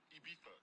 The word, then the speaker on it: Ibiza: Ibiza. Yeah, it's pronounced Ibiza, actually. What's the difference, man?